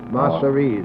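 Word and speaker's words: Masseria: know always have to call it masteries group Mastery that's just where you pronounce it uh do you know the name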